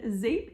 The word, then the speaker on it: Zeep: So everything today again is about Zape bath, and Zape is pronounced Zape. It's spelled Z-E-E-P and it means soap in Dutch.